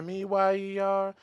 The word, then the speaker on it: Mayer: MEYER.